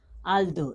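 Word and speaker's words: although: उसी तरह यहाँ पे ए एल टी एच ओ यू जी एच, इसको क्या पढ़ेंगे, आल दो, इसको क्या पढ़ेंगे, जैसे कि आधा ल, उसके बाद दो, आल दो पढ़ेंगे, इसको क्या पढ़ेंगे, आल दो।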